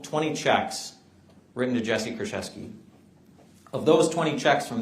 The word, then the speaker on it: Kurczewski: And Nelia said the Polish pronunciation is Kurczewski.